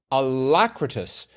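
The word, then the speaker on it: alacritous: I don't The adjectival form, alacritus is pronounced alacritus.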